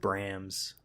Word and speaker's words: Brahms: now and you have Brahms how you pronounce it Brahms the boy to which I don't know anything about looks like a horror feeling its Bram's Bram's because the H softens yeah then the call